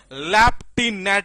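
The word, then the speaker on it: lieutenant: पहली चीज तो यही है कि इसके प्रोनाउंसिएशन के अंदर लेफ्टिनेंट यानी फ आता है तो बच्चा ये देखता है कि जी क्या फ आता होगा कि नहीं।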